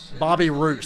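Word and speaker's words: Bobby Reuse: Bobby Roos, that's how you say his name.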